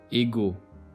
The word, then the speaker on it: égo: and elsewhere is pronounced as G, ego, gant.